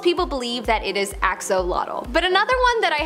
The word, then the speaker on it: axolotl: most part, most people believe that it is axolotl.